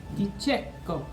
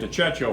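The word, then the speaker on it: De Cecco: Di cecco. So, like an Italian American, I've been calling it Dicecio for years, but this is perhaps the greatest commercially available pasta, widely commercially available pasta there is.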